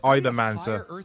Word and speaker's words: Epha: Now for the indie stars first Epha, pronounced Iman, this title blends a monster taming with the one more run addiction of a rogue light.